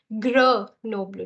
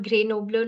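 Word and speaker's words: Grenoble: a Hindi alphabet so this is gr noblu not GRE noblu not green noblu it's gr noblu okay and here also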